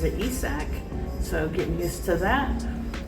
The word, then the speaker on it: Isaac: recently got traded so now we have um isach paradus isach paradus uh that's how he pronounces his name uh it's spelled Isaac Isaac